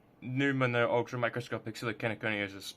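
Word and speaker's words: pneumono: and um I realized I pronounced it pheno but it's actually numo ultra microscopic so the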